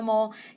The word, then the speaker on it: mole: is all a mole you don't actually pronounce mole to rhyme of la though I'm a really